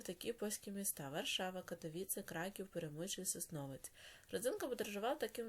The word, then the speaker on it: Краків: Гаджик віртуально відвідав такі польські міста: Варшава, Катовице, Краків, Перемичесь, Основець.